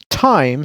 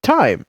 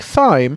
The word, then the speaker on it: thyme: vanderbilt university pretty much pretty much all americans pronounce time sans h the same way we say time it was until i found out there are